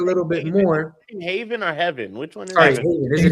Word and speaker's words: Heaven: is it Haven or Heaven I don't know I've heard it says it's not just y'all I've heard it said six different ways no it is yeah it's pronounced Aiden heaven like the sky oh okay got it